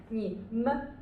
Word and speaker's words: 们: it becomes we okay keep in mind this one is the neutral tone the neutral tone what's the meaning of neutral tone yeah the neutral tone is voiceless and it's very short okay 你们 it's not 们 it's not 门 it's not 门 or 们 but it's voiceless 你们 okay 你